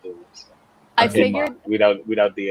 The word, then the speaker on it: Dumas: I think it's pronounced Dumas and Dumas. not Dumas. I Okay. figured without the S. I think the S is silent because it's like Alexander Dumas, the writer of the